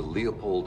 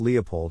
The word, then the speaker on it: Leopold: Phonetic Alphabet to pronounce Leopold have in mind that the size of the syllable indicates where the accent of stress is in this case the accent is in the first syllable corresponding to Lee low